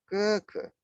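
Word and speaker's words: 哥哥: Nah, kemudian yang ketiga, keke. Keke yang artinya kakak laki-laki. Nah, diperhatikan keke ini adalah urutan nadanya nada pertama. Sama seperti mama.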